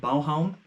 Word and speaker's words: Baghaven: a location in Copenhagen, which is called Balhavn, or Baghaven as it's kind of pronounced if you were to pronounce it English. How do you say? Through English phonetics, I guess we could say.